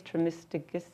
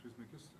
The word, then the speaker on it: Trismegistus: before him, and I don't know how to pronounce his name, who brought up this theory was Hermes Trismegistus. How do you say his name? Hermes Trismegistus. Trismegistus.